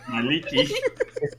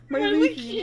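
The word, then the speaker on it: Mielikki: My leaky? Myliki. It's the Golthus tree. I googled the pronunciation. My leaky. My leaky, no.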